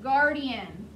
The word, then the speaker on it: guardian: So G-U-A-R is the first syllable. D-I is the second syllable. A-N. Gar is one sound. D is another. N is a third.